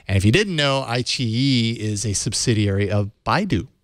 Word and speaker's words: iQIYI: iQIYI. iQIYI.